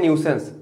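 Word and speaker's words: nuisance: न्यूसेंस का क्या मतलब होता है, न्यूसेंस का क्या मतलब होता है, बताएं इसको पढ़ते हैं न्यूसेंस, लेकिन इसमें स्पेलिंग देखो नुई लिखा है, एन यू आई।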